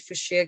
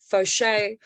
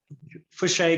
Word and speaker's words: Fouche: forward to checking uh i pronounced it wrong i said for sure guitars maybe it's because i'm a african school foshay am i pronouncing it right for shay guitars yeah guitars jake's from for